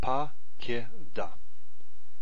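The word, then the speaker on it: פָּקְדָה: What this means is that we pronounce this pa-ki-da. This is pakad, this one's pakada. Our vocalic ending has split this last syllable and formed three in total.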